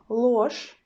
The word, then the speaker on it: ложь: You see that I pronounce this word very similar. I pronounce sound ch in both situations, and I pronounce sound sh because our zh sound in the end changes to the sh, yes, in both situations.